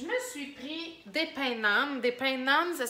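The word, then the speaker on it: naan: Je me suis pris des pains nan. Des pains nan, ça s'écrit N-A-A-N.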